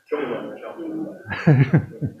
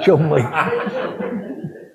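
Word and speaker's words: Cholmondeley: Chumley. How do you teach anybody to pronounce that as Chumley?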